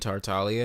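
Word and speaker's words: Tartaglia: hi my name is they still pronounce the G and tartalia yeah I like who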